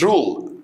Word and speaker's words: role: دور rule يقول لك Egypt played an important role. اوكي، مصر لعبت دور كبير in the Middle East في الشرق الاوسط. رول بالاو مش باليو يا كحول، لو باليو تبقى قاعده او يحكم.